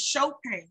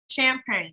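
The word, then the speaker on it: Chopane: So again, my last name is Chopin, C-H-O-P-A-N-E. But a lot of people say Miss Champagne, like the wine or, you know, the champagne.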